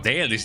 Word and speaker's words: Dalish: Oh, Dalish, that's how you pronounce it, Dalish.